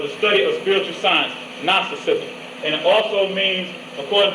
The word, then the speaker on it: Gnosticism: G-N-O-S-I-S, I believe that's how it's spelled, Gnosticism. And that is the knowledge or the study of spiritual sciences. And when you hear the word Gnosticism, you think of nostril.